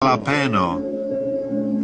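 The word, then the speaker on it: jalapeño: jalapeno tak się wymawia A ja wolę mówić Jola Pino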